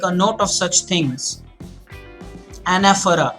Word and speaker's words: anaphora: Anaphora, and that's how you pronounce it. You don't say anaphora, it's anaphora.